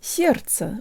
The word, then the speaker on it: сердце: protruded so so so the first syllable almost rhymes with the English word air and the S is